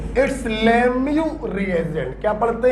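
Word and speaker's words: Lemieux: लिख पाए बदतमीजी देखो साला ई भी साइलें साला एक्स भी साइलें अबे सपने में आया था क्या मेरे कि यह साइलेंट होगा इसको लेमू पढ़ा जाता है इट्स लेमू रिएजेंट ठीक है तो व्हाट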